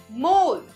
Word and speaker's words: more: मोर एम ओ आर ई मोर। So kids इसमें ओ और ई दोनों है। लेकिन जब हम ओ साउंड बोल रहे हैं तो ई साउंड ऑटोमेटिकली साइलेंट हो जाती है।